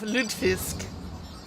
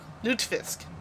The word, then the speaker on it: lutfisk: For those who don't know the original um suggest uh thing of ludfisk lutfisk actually need to pronounce it correctly is dried and salted